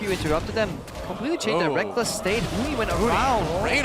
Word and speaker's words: Rekkles: 5, the Rekkles and Reckless debate was in full swing. I still want to call him Rekkles, but I've just gotten so used to calling him Reckless because he says so.